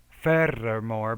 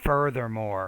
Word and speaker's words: furthermore: pretty heavy for something it's more of not fair fairer more but further furthermore students to carry their